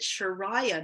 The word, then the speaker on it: Chiraya: let you know that my name changed pronunciation A while back so I actually pronounce it sharayah now the only reason I